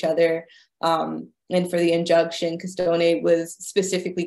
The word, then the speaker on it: Costoni: The police actually showed up, I believe it was the Bethel AME Church, looking for, how do you pronounce his name, Rachel? Costone?